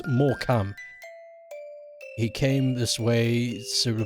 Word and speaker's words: Morecambe: It's pronounced more cam.